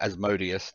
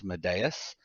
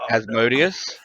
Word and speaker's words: Asmodeus: because you mentioned uh as modius that i found unforgivable with jordan is he pronounces it as madeas and every time he said it i just it was like nails on a chalkboard man you say you